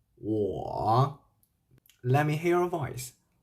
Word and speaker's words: 我: There is a U plus a O will be U, O, or with third tongue. 我 Let me hear your voice. 我 So in pinyin, if